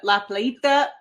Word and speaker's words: La Playita: We are reviewing La Plita from Tank Brewing.